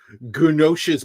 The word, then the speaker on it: Gnosis: Okay, Like, I figured the G was silent. in this case, it would be, but like, Yeah. if there, it's usually an A in front of it, so agnostic. Okay. But like, how are you going to pronounce Gnos? Gnosis Yeah, so just Bibliotheca.